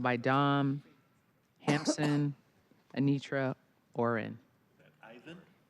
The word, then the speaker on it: Ivan: Next, we have Yvonne, followed by Dom, Hampson, Anitra, Oren. Ivan? Sorry, I gave you. I was French with it.